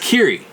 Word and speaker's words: Kyrie: quite pronounced like that so it's K a KY RIE the only time I've ever seen that word or name is the old song by mr. mr. which is pronounced kiri and I've never fully